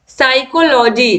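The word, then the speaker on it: psychology: है question number 42 है विच letter इस साइलेंट इन डी वर्ल्ड साइकोलॉजी तो साइकोलॉजी में पीस आइलैंड है क्वेश्चन नंबर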